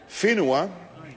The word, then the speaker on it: whenua: And it's interesting to note that in the treaty itself, the word whenua, spelt with a WH and pronounced with an F, they actually dropped the H out of there, and instead it's pronounced whenua.